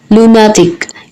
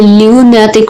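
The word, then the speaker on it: lunatic: तो इसका सिनोनिम्स होगा क्रेजी या साइको, लूनाटिक। इसे ल्यूनाटिक प्रोनाउंस नहीं करेंगे, LOO लू प्रोनाउंस करेंगे, तो लूनाटिक।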